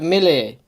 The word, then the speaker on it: Milei: Javier Milei. I'll know how to pronounce it off by heart, given that this is a huge result.